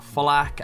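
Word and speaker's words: FL4K: But moving on, we now have Flak as the Beastmaster, and Flak there is spelled F-L-4-K.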